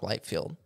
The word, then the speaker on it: Liefeld: Well, I was actually I just watched a video about Rob Liefeld. Is that how you say it? Rob Liefeld. Liefeld, yeah.